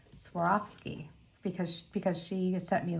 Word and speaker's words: Swarovski: Swarovski guess what guess what I just said Swarovski because because she sent me like the phonics